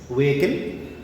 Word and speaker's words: vehicle: vehicle, kill, not vehicle, H sound is silent, here H is silent. Manandram vehicle ane pronounce chestam. You may say that so in vehicle and understand manandram ani cheppi, but that is wrong pronunciation. It is not vehicle, it is V-A-kill, V-A-L-A pronunciation, not Hassan. V-A-kill, vehicle. Next week.